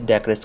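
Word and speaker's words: decorous: इसकी प्रोनाउंसिएशन में 2 different pronunciation है, लेकिन ब्रिटिश में इसे डेकरस कहा जाता है।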